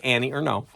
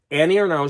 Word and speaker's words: Annie Ernaux: now so Annie uh and I've heard it pronounced no because you know you have to say it with a French accent spot I'd say Annie or no so Annie or now she won the Nobel